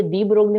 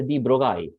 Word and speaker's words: de Broglie: Okay, अब ये डी ब्रोगली में भी मजेदार है, DEBROGLI। समटाइम्स ऐसे डी ब्रोगली, सम स्टूडेंट्स से नो इट्स अ डी ब्रोगाई, L is silent.